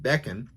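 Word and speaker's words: ベーコン: German retail stores Japan in Japan bacon is pronounced beckon back on it is cured and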